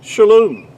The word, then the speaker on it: shalom: It's pronounced really to be more accurately would be shalom.